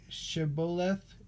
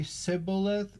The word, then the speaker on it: Shibboleth: If he said no, then they would say to him, please say Shibboleth, Shibboleth, and he would say Sibboleth, Sibboleth, for he was unable to pronounce it right.